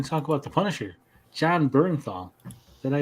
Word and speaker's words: Jon Bernthal: And we're going to talk about the Punisher, Jon Bernthal.